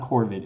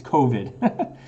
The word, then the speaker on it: COVID: COVID-19. Sorry, Allie. My wife was yelling at me from upstairs. It's not Corvid. It's COVID.